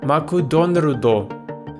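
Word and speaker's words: マクドナルド: McDonald's took me a while to get the pronunciation down maku Don rudo for a beginner you only need two systems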